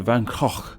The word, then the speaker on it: Van Gogh: it seems that the two most popular are Van Gogh and Van Gogh. However, I also heard Van Gogh. It seems that the Dutch, where he is from, say it very differently, and that is as Van Gogh.